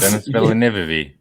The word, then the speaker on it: Denis Villeneuve: Everyone pronounces that director's name wrong. say it right for me. I know that Edward says it properly. Dennis Villeneuve. Dennis Villeneuve. It's Denis Villeneuve.